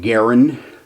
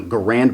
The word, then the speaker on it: Garand: about 10 years old he pronounced his name Garen the rifles are typically called Grands I think it's you know Garand may be improper but it's kind of